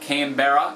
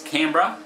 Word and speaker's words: Canberra: Albury it's all Barry it's not Canberra it's Canberra it's not Launceston its